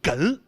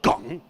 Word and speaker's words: 哏: 后，他们前后鼻音分不清楚，所以哏读成了梗。